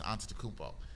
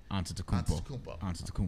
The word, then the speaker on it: Antetokounmpo: But after 60 Minutes had another piece after that focused on Milwaukee Bucks star Giannis Antetokounmpo. And I watched this piece. Killed that last name pronunciation.